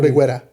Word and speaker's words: Reguera: No, Reguera. Yeah. Reguera. Ana de la Guera. It might be Reguera.